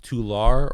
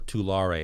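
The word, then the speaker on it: Tulare: it right two laura i don't know if it's pronounced tular or too larae it's like t-u-l-a-r-e it's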